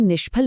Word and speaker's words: निष्फल: वहीं निष्फल में श का उपयोग होता है जो मूर्धन्य है। क्योंकि इसे बोलते वक्त हमारी जीभ मुंह की छत यानी मूर्धा को छूती है।